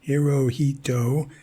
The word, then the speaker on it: Hirohito: person but there are there are places in Japan where it's pronounced more like here oh you don't and places where and add the H is pronounced SH I you know she don't